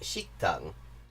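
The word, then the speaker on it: 식당: Now, the same characters, it's worth noting, as shokudo, pronounced shiktang, in Korean mean restaurant.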